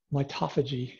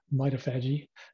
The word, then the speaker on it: mitophagy: called mido energies okay mitophagy is a is the way that most of us would pronounce it autophagy uh mitophagy okay